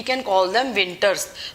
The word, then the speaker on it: VNTRs: अब नेक्स्ट हम देखते हैं मिनी सैटेलाइट का पार्ट VNTRs, विंटर्स बोलते हैं इनको, VNTRs. What are this, these are commonly तो इसको हम प्रोनाउंस कर सकते हैं विंटर्स, ठीक है.